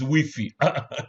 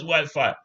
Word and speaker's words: Wi-Fi: What is wiffy? Sorry. What is Wi-Fi? I'm not joking. Wiffy, the franophone environment, they call it Wiffy.